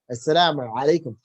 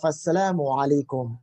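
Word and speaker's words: السلام عليكم: But if the Arab person, if he says salam, salam alaikum, salam alaikum, assalamu alaikum, see the difference. They pronounce that ayn very clearly.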